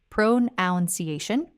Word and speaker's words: pronunciation: The middle changes from ounce to nuns.